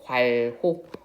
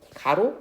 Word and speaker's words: 괄호: 똑똑하게 읽어야 됩니다. 과호는 관호라고 읽어요. 꼭 기억하세요. 얘 이름이 뭐라고? 관혹. 관혹. 가로 아닙니다. 과혹.